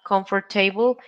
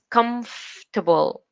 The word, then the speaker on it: comfortable: then we have remember the next word is not comfortable it is comfortable comfortable the are it's not pronounced so you said comfortable then we have the